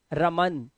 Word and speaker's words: रमन: रा से मां के सफर में बीच में आ का उच्चारण है, ध्यान से देखना, र म। लेकिन ना के आगे कोई उच्चारण नहीं है आ का। देखो रमन, ना पे रुक गया, देखा।